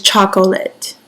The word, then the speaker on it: chocolate: chip choose chose Charles chocolate is I should chuckle it but a lot of times when we're pronouncing it we don't say that syllable but it is chocolate at the end of